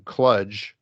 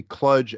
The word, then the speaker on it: kludge: Tobias, he weighs in favor of the correct pronunciation, Kludge, and he says it has to be Kludge as in fudge.